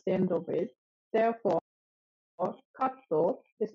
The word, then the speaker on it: カット: Basically, Japanese words cannot end with a consonant except the N sound.So a word always needs a vowel sound at the end of it. Therefore, katto is not cut, but